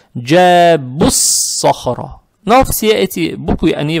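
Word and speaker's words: جَابُوا الصَّخْرَ: Теперь при переходе сюда, я имею, когда переходим сюда, вот обратите внимание, вау не читаем, этот алиф тоже не читаем, этот алиф тоже не читаем, и лям тоже не читаем. Получается, джабуссахра.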